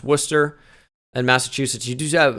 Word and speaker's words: Worcester: gonna be in Massachusetts war Chester is pronounced Worcester and Massachusetts you do